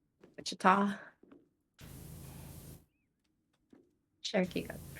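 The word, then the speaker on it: Wichita: So, I should go go back to searching Kansas City, not Witchah. Wait. Okay, there we go. Wa. Wida. I think it's Witchita. Witchita.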